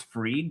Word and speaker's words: Fried: I know it's Freed because I'm not a but it's spelled Fried, so I will say it.